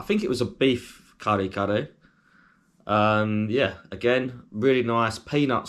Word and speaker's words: kare: 2, but number 3, kare. Or if you want to say it in an English accent, you probably say curry, but it's spelled Kare, and then the same again, so kare.